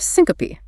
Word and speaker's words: syncope: Then the family tells you the patient had an episode of syncope. Pronounced s-i-n-co-pe, three syllables. The e at the end is not silent.